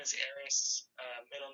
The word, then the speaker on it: Arys: name eris uh first name is eris uh middle name is so i use